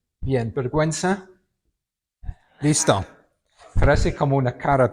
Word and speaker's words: vergüenza: hacer un comentario sobre vergüenza. Vergüenza lleva diis. Okay. Porque si no suena Okay.